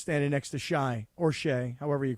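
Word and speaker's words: Shai: I think yesterday, Jerry Hairston Jr., he called him Shy, not Shay, which I thought was kind of cute, because, I don't know, it's spelled S-H-A-I.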